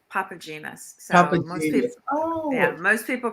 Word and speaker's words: Papatzimas: the last name wrong you did say it almost correctly it's papa genus oh yeah most people